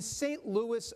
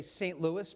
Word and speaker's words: St. Louis: Recall that it is not, as we say, St. Louis, but St. Louis, or that the small